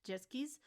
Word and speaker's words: Sechskies: what is this group zis properly pronounced as jetskis was a six-member group